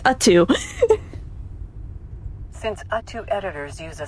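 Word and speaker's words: UTTU: And we finally know how to pronounce U2. I just thought it was U-T-T-U. I guess it's U2.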